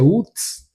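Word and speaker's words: אוּץ: No original hebraico, a palavra precipitado, a pronúncia é uts, ele não significa apenas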